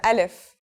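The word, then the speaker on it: ألف: We'll start with al if. So, what sound does this letter make? That's easy. It's just like its English counterpart, a in the word apple.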